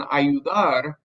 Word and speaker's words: ayudar: accent here is because the stress in ayudar is on the AR by adding a syllable